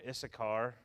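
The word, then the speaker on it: Issachar: change it yeah judah it's the car let me spell that for you i s s a c h a r i s s a c h a r is a car and zebulun z-e-b-u-l-u-n okay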